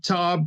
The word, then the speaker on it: Taub: it right table products table tab it's more of an owl so it's tab like